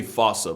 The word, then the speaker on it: fossa: lemurs everywhere the fusa although with its spelling I'm pretty sure it's actually fossa but the day I pronounce it like that is the day I lay my childhood to rest the foosa is pretty much a